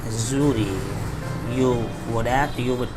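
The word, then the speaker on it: Xury: it as suri because whenever x comes at the beginning of any english word it becomes z sound not execute but it is zhuri and together they escape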